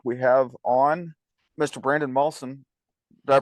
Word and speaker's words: Malson: and this week we have on Mr Brandon mson did I pronounce that right it is that was good